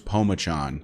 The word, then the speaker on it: Pomachan: But from what I can find, the H is basically silent. It is Pomachan.